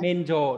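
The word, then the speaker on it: 免除: miễn trừ Miễn men rồi trừ, miễn đọc là trừ gì? men rồi Menjo, đúng rồi.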